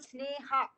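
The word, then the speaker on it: स्नेह: actually means love wow so it's called sneha if i give it uh you know the you know the pronunciation of a sanskrit because it's neha so that means love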